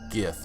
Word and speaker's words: GIF: It's GIF, not GIF. I've been saying GIF for all my life. You can't possibly convince me to say GIF now.